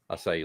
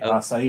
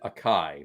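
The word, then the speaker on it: açaí: brought in the acai. I lo I lost my cherry. Y and picked up some asai. Or or or those uh that choose to pronounce it akai.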